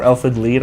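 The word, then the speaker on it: Elfen Lied: me this anime called Elfin line or elfid lead I believe is how is what it's pronounced um and that by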